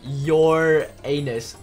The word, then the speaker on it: Uranus: Okay, we're going to Uranus, guys. Woo! Oh my god. It's pronounced your anus.